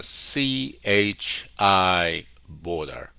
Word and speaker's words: CHI Border: We're located in Chicago and our company's name is pronounced as a C hi Border. CHI Border.